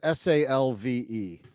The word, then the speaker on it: salve: What? Like salmon? The L is silent?